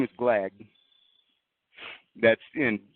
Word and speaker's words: Glagg: His name is Glagg.